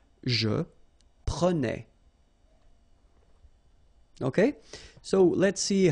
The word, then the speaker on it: prenais: So same thing here, final S not pronounced.